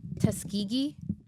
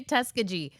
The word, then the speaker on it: Tuskegee: Tuskegee? Yes. Okay. I was going to say Tuskegee.